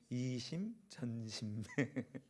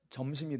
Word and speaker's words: 이심전심: 빨리 하면 발음이 안 되니까 천천히. 이심전심. 점심이 돼요. 잘못 발음하면.